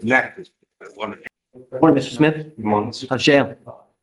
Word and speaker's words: Natchitoches: I've been mispronouncing I county. know, it's Natchitoches.